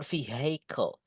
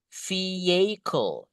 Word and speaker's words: vehicle: Yang paling tepat pengucapan kendaraan itu adalah bukan vehicle. Hanya nggak usah dibaca teman-teman. Just say vehicle is the correct one. Vehicle. Ini Bro Vicky tulis cara bacanya ya. Vehicle. That's it guys. Yeah, vehicle. Vehicle. The common mistake is just vehicle. No, guys. Vehicle.